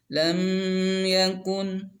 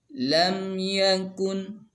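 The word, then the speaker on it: لم يكن: dikata ayat pertama dikata lam yakun, masih ingat ini izhar syafawi, dibacanya harus jelas. Lam yakun, tidak boleh berdengung. Lam yakun, itu salah. Atau tidak boleh mantul. Lam yakun, nah itu juga salah. Yang benar lam yakun, seperti itu.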